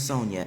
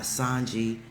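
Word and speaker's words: Sonja: My name is Sonia. S O N J A. Not Sanji. Not Sanja.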